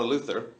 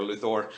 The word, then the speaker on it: Luthor: episode two and um Lana Luther which is I guess how we're pronouncing it now it's no longer Luthor which is how I always pronounced it I don't care what they're saying I'm GNA always call it Luthor yeah so I I